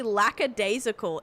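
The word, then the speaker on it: lackadaisical: Commonly mispronounce how you are. So it's actually lacadasical.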